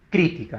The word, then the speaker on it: crítica: Otra palabra, por ejemplo, crítica, ¿no? Ella es una crítica. Crítica es, ¿no? En este caso, esdrújula.